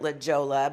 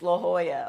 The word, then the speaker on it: La Jolla: Now, when I moved to California, I called it La Jolla, but I now know it's pronounced La Jolla, okay?